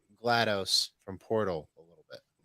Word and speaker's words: GLaDOS: I always thought it was Gladys. No, like pronounced Gladys. No, oh no shit. GLaDOS.